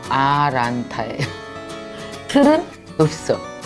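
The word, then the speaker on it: Atlanta: 근데 내가 아틀란타 그랬더니 그게 음절이 3개밖에 안 되는데요. 아틀란타가 아니라 아란타예요.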